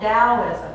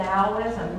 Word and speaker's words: Taoism: It's from a spiritual path called Taoism. It's kind of a funny word because it's spelled with a T, but we pronounce it as if it's a D.